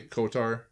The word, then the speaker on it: KOTOR: I didn't play KOTOR.